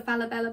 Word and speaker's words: Falabella: So this is another Falabella bag. I'm pretty sure that is actually how you pronounce it.